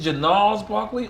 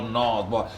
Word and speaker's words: Gnarls Barkley: Listen, that G is silent. It's just Gnarls, like. It ain't Janarls. It ain't with a G.